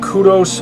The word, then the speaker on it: kudos: By the way, did you know kudos is a singular word, not plural? In the UK, they pronounce it kudos. It's a Greek word.